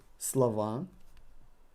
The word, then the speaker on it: слова: Слова. We're replacing O with A. And because we got emphasis on A and not on O, we're pronouncing O as A.